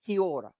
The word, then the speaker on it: kia ora: the most common way we would say is kia ora. Okay, kia ora. Okay, Kiora.